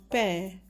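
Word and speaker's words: पैर: And when we add the add-on symbol pair as in pair of socks to P, it makes the sound pair. So the word sound is pair.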